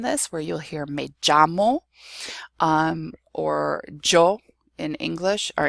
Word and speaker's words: llamo: The double L in Spanish is standardly pronounced as a y, as a y sound. So when you say me llamo, my name is literally, you're saying I call myself, me llamo.